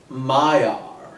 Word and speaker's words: Mire: Apparently it's spelled Mire. Okay. But they keep pronouncing it. This might just be the fact that it's Peter Capaldi saying it. It's Maiar. Yeah, I heard Maya. Yeah, I was expecting Maiar.